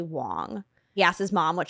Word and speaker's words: Wang: But the correct pronunciation in Mandarin is actually Wang. He asked his mom what she preferred, and then when he presented this movie for the first time, he said Wang, and he's never gone back since.